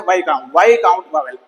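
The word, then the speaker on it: Wavell: ये अंग्रेज थे, वाईकाउंट वावेल, VIS, लेकिन इसकी प्रोनाउंसिएशन है वाईकाउंट वावेल।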